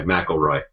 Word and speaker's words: McElroy: I talked to Matt McElroy, and that's how I pronounce his name, by the way, McElroy.